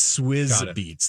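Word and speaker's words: Swizz Beatz: first name was cuz that's actually how you pronounce it swis be it's swis beats thank you for someone who just text me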